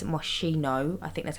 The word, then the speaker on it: Moschino: And then I used a light, which is from the Moschino pack, which, by the way, I know it's not pronounced mosquito. I know it's Moschino.